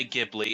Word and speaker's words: Ghibli: you say it yeah Ghibli is how I say it yeah Spirited Away an